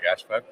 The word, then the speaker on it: Gáspár: Yeah, Gashburg. Uh, Hungarian pronunciation.